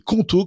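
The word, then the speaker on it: Qonto: Choisissez conto, ça s'écrit Q O N T O pour vous lancer.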